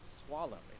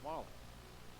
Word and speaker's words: Soileau: Replacing, by the way, for Monic was Madison Swallow. It's Soileau, but it's pronounced Swallow.